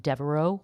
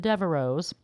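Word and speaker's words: Devereux: in the letter X but it is pronounced silently so Devereau for example then instead of adding an es you would just add an S because the X is silent so it's really acting more like a vowel the last vowel you hear or the last sound you hear is an O so you just add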